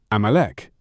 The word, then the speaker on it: Amalek: In Hebrew, it is pronounced Amalek, and the term appears frequently in the Hebrew and Aramaic scriptures as the name of Israel's most persistent enemy.